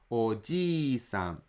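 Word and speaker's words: おじいさん: Ji is a long vowel, so you should extend another 1 mora to pronounce it. Oji-san.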